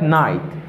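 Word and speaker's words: knight: Let ka sa li mem li pa prononce. Here I have night.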